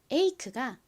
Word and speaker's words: ache: 가장 끝에 있는 e는 허개비로 소리가 나지 않죠.